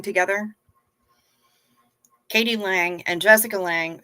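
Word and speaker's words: Lange: Katie Lang and Jessica Lang spell their name they say their name the same but it's spelled differently Jessica Lang has an e on the end my dishwasher isn't usable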